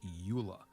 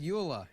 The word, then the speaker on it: Euler: so you realize I'm going with Eula it makes more sense to me it's got an E and A U and an l and an ER you're no Euler Euler all right so we